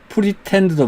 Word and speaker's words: pretend: 그래서 attend 이렇게 다 발음합니다. attend. 또 pretend도 마찬가지로 pre라는 음절과 tend, tend라는 이 두 개의 음절로 되어 있습니다.